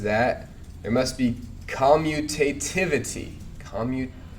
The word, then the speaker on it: commutativity: Commutativity. I can never quite come to grips with how that is best pronounced. Commutativity. So you're missing the T. Commutativity. I don't know.